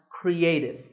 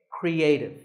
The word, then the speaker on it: creative: This word is pronounced creative. There are 3 syllables, cre, a, and tiv, with the stress on a, creative.